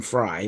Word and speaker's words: Frey: The Isley Brothers, or Glenn Fry, when your name is spelled Frey.